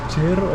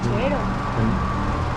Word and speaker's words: chero: Cherro, entonces, cherro no, es aquí sí. Chero. En El Salvador, eso es Salvador, sí. No he ¿Se dice escuchado a cherro nadie entonces? que diga No, chero.